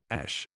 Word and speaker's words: Ash: Ash. Not Ashar but Ash.